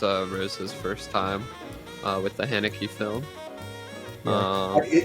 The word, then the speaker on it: Haneke: This was Rose's first time with the Haneke film. Yeah. I believe his name is pronounced Hanukkah, though.